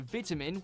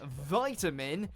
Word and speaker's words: vitamin: say the word is in the UK you'll hear vitamin with a small I but in the US it becomes vitamin as though it's a capital I the short I pronunciation